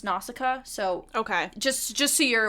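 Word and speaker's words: Nausicaä: In the English version, it's pronounced Nausicaa, so okay, just so you're aware, yes. Because I watched the Japanese version, and it was Naushka, so that's where the variation comes in.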